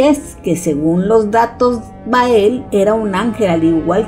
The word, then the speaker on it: Bael: de Anthony Hopkins pero ahí lo pronuncian como baal pero en realidad se refiere al mismo ente Y es que según los datos bael era un ángel al